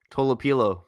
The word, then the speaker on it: Tolopilo: Toilo.